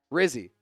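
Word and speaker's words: Rizzi: for head coach is Rizzy he said it rhymes with frizzy frzy uh no but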